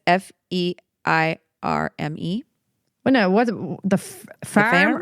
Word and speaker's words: Feirme: It's Feirme.